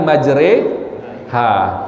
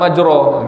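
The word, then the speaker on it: مجريها: Misalnya bismillahi majreha. Kau bukan majro gitu kan.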